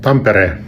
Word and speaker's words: Tampere: Tampere is pronounced Tampere.